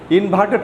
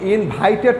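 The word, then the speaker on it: inverted: তোমরা খেয়াল রাখবে ইনভার্টেড কমা যেন ইনভাইটেড কমা যেন না বলে ফেলো, তাই না? কি বলতে হবে? ইনভার্টেড। আমার সাথে উচ্চারণ করো, ইনভার্টেড কমা, ইনভার্টেড কমা।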